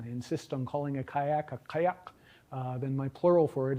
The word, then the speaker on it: kayak: if I insist on the original Inupiaq pronunciation of the word kayak, which is, kayak, a single-person boat, which in Inupiaq begins and ends with a uvular stop.